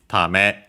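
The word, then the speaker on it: ため: before uh tame uh actually should be tame uh accent on the last more yes it is uh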